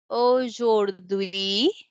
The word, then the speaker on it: aujourd'hui: Okay, because AU letters make O sound. O. And then jour, in jour we have OU letters together. O, jour. And then we pronounce D with UI because H is at the beginning of the word HUI. So it will be silent. So that's why it is sound as aujourd'hui.